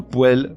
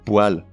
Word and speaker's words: poêle: Ou un ou une poêle, mais un ou une poêle.